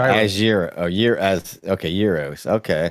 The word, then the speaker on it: gyro: My mob chimed in and said it's pronounced year. She's talking about the gyro as year as Okay. Yuros. Okay. year roast.